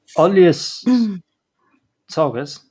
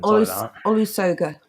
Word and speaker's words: Olusoga: Olius Sogas, I genuinely don't know how to say his name. Olusoga.